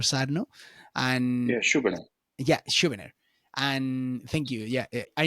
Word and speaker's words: Schubiner: Skubirner. I don't know if I pronounce properly the name, but he's like the new Dr. Sarno. And Yeah, Schubert. yeah, Schubiner.